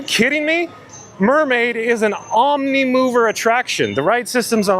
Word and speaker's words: Omnimover: Mermaid is an omni-mover attraction.